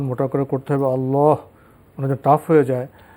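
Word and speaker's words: الله: ক্ষেত্রে সুনির্দিষ্ট কায়দা রয়েছে যে কায়দার উপর নির্ভর করে লামকে পোর বা মোটা করে পড়া হয়ে থাকে আল্লাহ আপনি যেভাবে উচ্চারণ করেছেন না এভাবে নয় মানে বরং আল্লাহ এভাবে উচ্চারণটি শুদ্ধ আপনি উচ্চারণটি শিখে নেওয়ার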